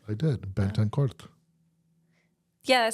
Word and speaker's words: Betancourt: your life story yes so my last name's bet and cor I don't know if you said it right I did benan yeah that sounds right it is right okay